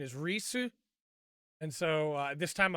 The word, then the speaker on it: Ries: up how to pronounce the names uh the pronunciation is risu and so uh this time i'm not going